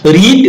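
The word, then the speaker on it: read: ভিথ্রি form মানে কি রিড রেড রেড তাই না উচ্চারণ রেড হবে বানান কিন্তু একই থাকে স্পেলিং রিড এবং রেডের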